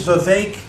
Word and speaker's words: Vivek: But people are confused sometimes by it because of the spelling. Vivek, you get a lot. It is Vivek like cake.